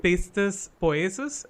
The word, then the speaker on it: Pistis Poiesis: is so I just wanted to know the We exact had a lot of pronunciation of your short film first. Okay, It's so Pistis Poiesis, am I right?